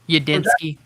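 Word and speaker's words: Udinski: The LA run, the pass game coordinator, and then the is it Ulinsky? Is that how you pronounce his name? Udinsky.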